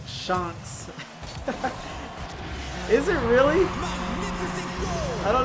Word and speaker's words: ShownX: It's actually pronounced ShownX.